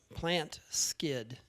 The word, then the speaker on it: Plantskydd: But I have recently gone to another type of deer repellent called Plant Skid, and that's spelled PLANTSKYDD.